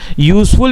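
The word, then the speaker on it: useful: यूजफुल में भी वो यू मतलब वाई साउंड है, मतलब के कॉन्सोनेंट साउंड है।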